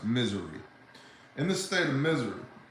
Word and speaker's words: Missouri: In the state of Missouri, properly pronounced Missouri, in the state of